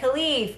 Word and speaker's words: Khalif: Oh, okay, Khalif, Khalif. Okay, there. I didn't see you had the next to it. You had the pronunciation, Khalif.